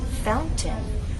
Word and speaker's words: fountain: The glottal stop is used in place of a T. Instead of the true T, fountain, we're going to take out the true T and use a glottal stop.